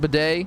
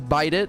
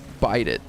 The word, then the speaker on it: bidet: day I almost wow you know how singer pronounces that word bidet he says bite it and I almost just